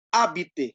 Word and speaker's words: habiter: Ingat, huruf H dalam bahasa Prancis tidak pernah dibaca. Jadi habiter, langsung ke A-nya, H-nya ditinggalkan, tidak usah dibaca. Habiter, habiter.